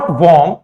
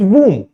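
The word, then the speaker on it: womb: ओ का प्रोनंसिएशन है ये ओ से ना होकर ओ से ना होकर हल्का सा उ का प्रोनंसिएशन देता है इट्स नॉट वर्म इट्स वूम इट्स नॉट टॉम इट्स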